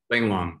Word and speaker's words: Lang Long: There's a scene in the book where you're talking to, I believe you pronounce his name, Long, is that how you say it? Lang Long, yeah.